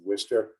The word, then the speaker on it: Worcester: polytechnic at the time and amy great job pronouncing worcester some people have a hard time pronouncing uh